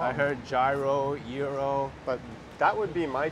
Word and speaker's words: gyros: And what's the proper pronunciation of Gyros? I say euro. Yeah, but that's some people say gyro. Yeah. Euros, I think. I know Kramer on Seinfeld says gyros. Yeah, I think he's wrong.